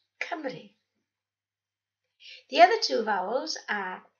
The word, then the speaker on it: Cymru: Four you recognised are pronounced A, E, I, O, but U is always pronounced E, never U, as in the word Cymru.